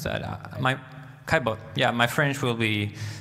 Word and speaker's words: Caillebotte: How do you pronounce that? Caillebotte.